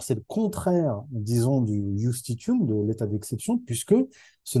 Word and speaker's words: justitium: Ça s'écrit avec un J, justitium, mais ça se prononce certainement justitium.